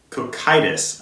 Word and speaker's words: Cocytus: I get it right is Cocytus I'm pretty sure that's how you pronounce it it's a quick itis